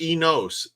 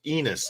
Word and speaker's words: Enos: Enos, not Enos. Enos, like penis.